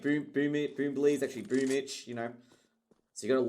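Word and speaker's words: Boombl4: Like, you know, Boombly, like people call Boomich Boombly, but his name's Boomich.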